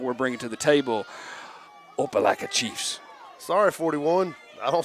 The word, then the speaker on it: Opelika: Coach Collins, work on me, Opelika or Opelika? Opelika. Opelika. I want to make sure that I don't get any hate mails at the end because I'm pronouncing the names.